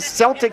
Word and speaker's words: Celtic: 20th annual Arizona Highland Celtic Festival at Fox Glen Park in Flagstaff, a fantastic event as well. It's a hard C. Hard C. Celtic. I stand corrected. It is Celtic.